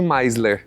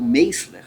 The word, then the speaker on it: Meisler: Eu falei Rony Meisler. Tudo bem. Mas você sabe que essa é a pronúncia. O Meisler é o tropicalizado.